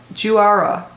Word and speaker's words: Juara: So, oh, it says how to pronounce Huara. Juara. So I think you do pronounce the J. It's Indonesian. Juara.